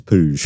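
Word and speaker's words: Puig: I said Alli how do you pronounce it and she goes it's puj okay perfect how are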